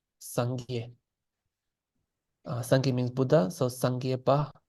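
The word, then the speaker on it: སངས་རྒྱས: teachers is Kampa, and the Kampas will say Sangye. So I apologize for. I'm gonna try to stay consistent, Sangye, with what I'm saying, which is the central pronunciation, Sangye.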